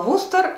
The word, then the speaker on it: Worcester: Надо отметить, что название города Вустер для меня было шокирующим открытием, потому что по-английски он пишется Worcester. Я и мои друзья так и произносили название этого города, пока мы не приехали туда и не прочитали по дороге в Википедии, куда нам сходить, что посмотреть и так далее. На русском языке он звучал Вустер, и мы поняли, что